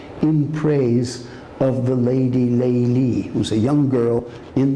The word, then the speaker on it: Layla: In this particular story, she is the lady Layli, or Layla in Arabic pronunciation, the lady with night dark hair.